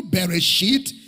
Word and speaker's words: Bereshit: For those writing, the Hebrew Bereshit is B-E-R-E-S-H-I-S-T.